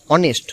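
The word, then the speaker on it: honest: এনই এসটি অর্থাৎ সৎ অনেস্ট সৎ কেন হনেস্ট বল এই আছে তো না এখানে হনেস্ট বলা যাবে না হনেস্টটা এখানে এইচটা হচ্ছে সাইলেন্ট লেটার সো এর উচ্চারণ হবে অনেস্ট সেম এয়ার মানে উত্তরাধিকারী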